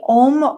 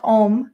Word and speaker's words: Ogham: But they had their own writing system, which is, I believe it's pronounced Ohm. Correct me if it's wrong, but it's spelled Ogham.